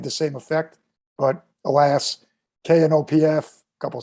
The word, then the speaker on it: Knopf: we he pronounced it kanoff though he said the k it did uh interesting yeah it's a very wasteful last name the k and the p are silent they could have gotten